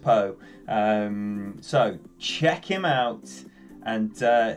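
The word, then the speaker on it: Paag: So please, if you don't already know that name, Emil Poe. It's spelled P-A-A-G. It's pronounced Poe.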